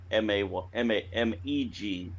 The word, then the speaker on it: Meg: Meg, M-E-G, sorry, is pronounced M-A-Y-G, which covers which, what.